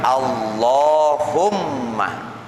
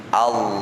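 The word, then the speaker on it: اللهم: Maka tasdid dalam lafaz Allahumma itu ada 2. Wahuma 'alal lami wal mimi, yaitu di atas lam dan di atas mim. Jadi bacanya Allahumma, Allahumma.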